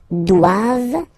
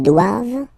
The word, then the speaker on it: doivent: And then the last one, ils doivent. So same thing, classic ending for the plural form, E-N-T here. Okay, but then you don't pronounce it.